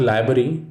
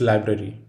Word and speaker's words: library: confuse these discrete words it is not library it's library as mentioned before english speakers dislike two hours in the same word however we have to back up and pronounce them all the next letter is